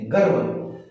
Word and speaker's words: गर्व: जैसे गर्व तो पूरा र नहीं निकलता, गर्व।